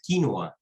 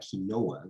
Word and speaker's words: quinoa: Your story, Stephen, reminds me of what's going on with quinoa Incidentally, it's pronounced quinoa, not quinoa, like we say in English.